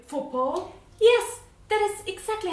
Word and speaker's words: faux pas: Oh, how you say faux pas?